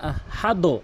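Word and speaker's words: أحد: আরেকটি ভুল করে হল আহাদ হাদ বলে এখানে হাদ কখনোই বলা যাবে না কোনভাবেই বলা যাবে না এখানে আহাদে বলতে হবে আহাদে নিয়ম রয়েছে।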